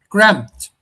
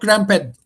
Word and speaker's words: cramped: It's incorrect because here you pronounce the word cramped in 2 syllables, cramp and bed, and that's incorrect. Yeah. But the correct pronunciation for this cramp, just 1 syllable, cramped. Like flat? Like flat, yes. So it's cramped, like flat, not cramped.